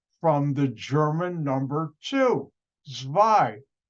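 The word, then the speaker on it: zwei: the German number two zwai w z w e i in German the W is pronounced like a V and when I used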